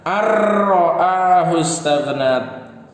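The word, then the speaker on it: أن رآه استغنى: An ra'ahu istaghna. An ra'ahu istaghna. Nah, bacanya gimana? Ar-ra'ahu istaghna. Ro-nya jadi tasydid di sini.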